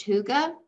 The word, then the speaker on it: hygge: It looks like hygge, but it's pronounced hygge.